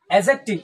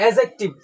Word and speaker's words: adjective: एडजेक्टिव, इसको डी थोड़ा सा साइलेंट रहेगा। डी क्या रहेगा? साइलेंट। एडजेक्टिव, ठीक है।